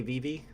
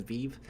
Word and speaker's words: VeVe: we have got to teach the robot lady how to say Vivi every time she reads it she says beef we know that you